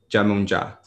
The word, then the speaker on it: Yemoonyah: um i want to make sure that i'm pronouncing your name correct again it's jamunja right yeah yeah um is there a story